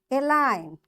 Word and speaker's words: align: Because the rule is when you find N after G, you will not say this G and directly you pronounce the sound N.